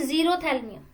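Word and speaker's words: xerophthalmia: Prevent जीरोथैल्मिया, जीरोथैल्मिया, पी और एच इसमें silent पढ़ेंगे, जीरोथैल्मिया इसको हम पढ़ेंगे।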